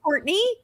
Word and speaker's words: Courtenay: Courtenay, but it is spelled Courtenay.